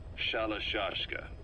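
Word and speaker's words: Shalashaska: somewhere along the line, Shashka got stuck on the end of Sharashka. The guerrillas were using the name amongst themselves, and by the time I got to hearing about it, pronunciation had wound up as Shalashashka.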